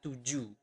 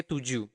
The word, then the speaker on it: tujuh: But in Bahasa, we do not pronounce the H at the end of the word. So you do not pronounce it as tujuh, but tujuh. Okay, tujuh.